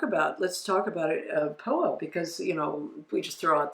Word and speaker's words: Phowa: Well, it's spelled PHOWA. Yeah. So because people don't even know how it's spelled, PHOWA. The Tibetan Buddhist tradition of POA, transference of consciousness at the moment of death.